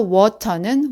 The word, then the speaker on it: water: 편하고 부드럽게 발음하려고 하고 특히 이렇게 티가 모음 사이에 끼었을 때는 디귿이나 리을 사운드가 부드럽게 변하게 됩니다. 그래서 water는 water, but는 bter, better는 better로 말하기 때문에 교과서에서 배운 대로만 연습하면 절대 안 들리는 거죠.